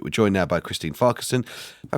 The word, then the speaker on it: Farquharson: We're joined now by Christine Farquharson. If I pronounced that right, Christine.